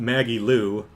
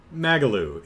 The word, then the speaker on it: Magalu: um um blind says not Maggie Lou magalu it rhymes with soggy shoe or boggy glue get it right or she'll turn you into froggy stew yeah but I just